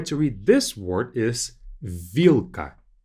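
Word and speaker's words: вилка: The way to read this word is vilka. Vilka. Again, we have l, k, two consonants together.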